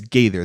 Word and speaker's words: Gaither: rookie then in akeem i think it's davis gaithers and i'm saying it right oh i could pull it up bro it's either yeah it's davis gators i can't i i always want to flip it it's definitely davis gather though if i can